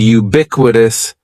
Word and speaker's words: ubiquitous: word is ubiquitous and ubiquitous has four syllables that first syllable is just like you're saying the letter U ubiquitous and the stress is going to be on that second syllable ubiquitous ubiquitous ubiquitous means